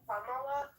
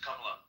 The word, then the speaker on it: Kamala: What happened when Kamala came up to power?